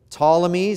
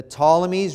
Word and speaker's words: Ptolemies: In Egypt, you have the the Ptolemies. It's a silent P at the beginning, but the the Ptolemies rule and reign in